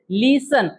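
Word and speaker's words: listen: पुढे बघा लिसन दिले लिसन आपणटी वापरतो का त्याच्यामध्ये नाही वापर तरी पणटी येतो म्हणजे कायला सायलेंट वर्ड म्हणतात ठी सायलेंट लेटर म्हणतात पुढे बघा वॉच मध्ये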